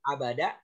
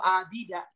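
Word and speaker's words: عَبَدَ: Ada yang menggunakan pola 1, bacanya itu fa'ala seperti ibadah, abada. Jadi Bapak nggak boleh baca itu abida. Nggak boleh baca apa itu abuda. Ya kalau secara makna kalau orang bilang abida, ya orang tahu itu seperti ibadah.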